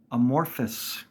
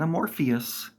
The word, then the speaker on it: amorphous: Another one, material, amorphous. It's not Amorpheus. It's not Morpheus from the Matrix with an A in front of it. It's amorphous.